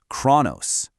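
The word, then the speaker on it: χρόνος: First syllable is kro. You try it. The second syllable is nos. Say it out loud. Put them together, and you get khronos, khronos.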